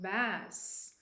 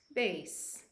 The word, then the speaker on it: bass: The same word, pronounced bass, refers to a kind of fish. This is served with a striped bass fillet. So again, bass, fish, musical notes, bass.